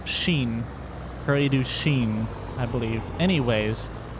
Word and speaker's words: Prairie du Chien: I always want to call it Chen, but it's not. I believe it's Chien. Prairie du Chien, I believe.